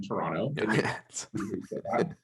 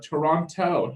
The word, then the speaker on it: Toronto: Yeah, I have to say, I love that you don't pronounce the second T in Toronto.